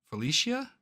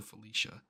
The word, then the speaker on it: Felicia: Felicia? Dude, how do you... Am I dumb? Felicia. Pronunciation. In English, it's often usually pronounced as Felicia.